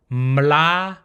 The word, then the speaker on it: mla: It'll be a mix of ma and la all together.